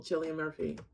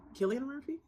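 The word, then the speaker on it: Cillian Murphy: looks like skinny skeletal Chilean Murphy am I saying his right name wrong Killian Murphy I say Chile like chill I really want to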